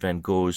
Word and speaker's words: Van Gogh: I have been informed by my betters that Vincent van Gogh's surname is properly pronounced in the original Dutch as a deep-throated, wet, phlegmy expectoration. Van Gogh.